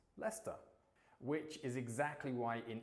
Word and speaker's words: Leicester: For example, Leicester Square in London is not pronounced Leicester the way that it's spelt. It's pronounced Leicester, which is exactly why